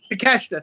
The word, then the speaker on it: Takeshita: Okay, how do you correctly pronounce it? Because I do want to give the man Takeshita. Takeshita, thank you.